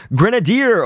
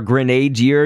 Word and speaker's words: Grenadier: Grenadier or Grenadier, you could pronounce it either way, but that fish, basically,